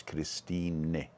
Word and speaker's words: Christine: i like christine but the germans they pronounce the e at the end so it's christine in it really i'm